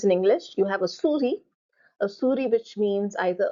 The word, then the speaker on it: souris: So now, souris, animal, or mouse, as in computer. And then you have a mail server, server, server. Souris, S is silent.